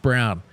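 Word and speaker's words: Braun: of course by Christian Brown It's pronounced Brown and look at the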